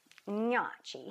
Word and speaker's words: gnocchi: It's gnocchi. He says you have to say it in your nose.